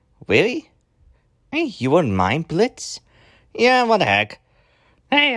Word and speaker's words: Blitzø: few days ago and this is Blitz they all is silent and we'll see you